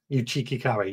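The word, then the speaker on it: Uchiki Kuri: Uchiki curry, that's how I'm pronouncing it now.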